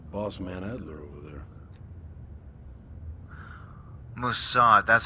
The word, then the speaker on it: Mossad: Mossad, that's how you pronounce it.